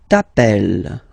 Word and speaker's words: t'appelles: Alright, second form, tu t'appelles. Okay, remember, final S not pronounced.